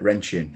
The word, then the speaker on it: Rendchen: Rendchen, is that how I've said it right, Anta? Mate, you've nailed it. Rendchen, Yeah.